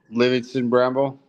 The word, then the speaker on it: Livingston Bramble: Livingston Bramble. Livingston Bramble.